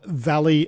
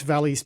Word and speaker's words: Vali: Now we're going to be chatting with Austin Gadant who is the CTO and co-founder of Valley Cyber and that is spelled V A L I.